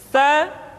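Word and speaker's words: ث: berikutnya n huruf tsa tsa dikeluarkan dengan menyentuhkan ujung lidah kita dengan dinding dua gigi seri bagian atas diucapkan dengan suara dan nafas yang terdengar mengalir tsa SII tu bat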